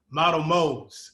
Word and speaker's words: MottoMoez: I already butchered it when we were in the now, but it's Model Moes.